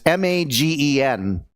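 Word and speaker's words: מגן: One of the names of God is Magen, I think is how you pronounce it. It's Magen.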